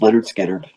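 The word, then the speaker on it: Lynyrd Skynyrd: Just need one more to pronounced pronounced Leonard Skard.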